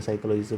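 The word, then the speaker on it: psychology: इथ स्पेलिंग लक्षात घ्या सायकलॉजीच पी सायलेंट आहे सायकॉलॉजी आणि न्यूरोसायन्स स्पेलिंग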